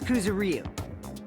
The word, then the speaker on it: Kuzuryu: My last name is Kuzuryu. My first name is pronounced.